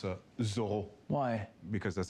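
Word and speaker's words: Zoreaux: our favor thank you Zoro it's actually pronounced a zor why because that's how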